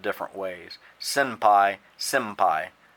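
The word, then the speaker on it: 先輩: Generally speaking, when you say the word, it's a little hard to tell if it's an M or an N, so you'll see it spelled different ways. Senpai, senpai.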